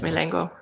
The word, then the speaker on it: Milengo: you currently work for milango am i saying this right yes milango that's right do you do your